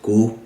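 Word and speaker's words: kuv: Donc là, je le prononce go.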